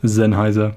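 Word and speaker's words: Sennheiser: Germany and uh yeah it's just zenhiser so it's a little bit it's not zenhiser it's more zenhiser but that's how you say it it's not so crazy there are some other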